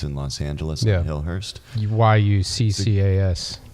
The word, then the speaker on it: Yuccas: If you guys want to check it out, it's Chucka's. It's in Los Angeles, in Hillhurst. YUCCAS. Or Yucca's, not Chucka's.